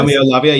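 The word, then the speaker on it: Roméo Lavia: Yeah, and the next name, Tom, it's a player I know, but I will have to check the pronunciation. It's Romeo Lavia. Is that right? Romeo Lavia, yeah, got that right.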